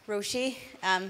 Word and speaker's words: Roisi: My name's Roisi. That's how you pronounce it there.